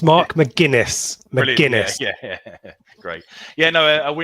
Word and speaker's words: McGuinness: As soon as I got to work, I wrote out the phonetic pronunciation to make this easier on myself. Brilliant. It's Mark McGuinness.